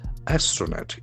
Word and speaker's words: astronaut: After that after comma Indian astronaut a s t r o n a u t. So it's a very interesting word having the action on the first syllable. Astronaut. Astronaut. There are three syllables.